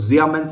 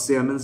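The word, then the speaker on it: Siemens: limited সেটা 4.13 শতাংশ জিয়ামেন্স বা সিয়ামেন্স যেভাবে উচ্চারণ করুন না কেন 3 724 শতাংশ আজকে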